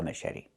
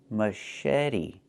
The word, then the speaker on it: machete: Machete. Machete. The ch makes a soft sh sound like in fish. Mush. And then eddie. The t makes a fast d.